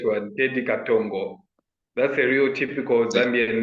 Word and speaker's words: Teddy Katongo: Teddy Katongo. Am I saying it correctly? Yeah, that's the correct one, Teddy Katongo.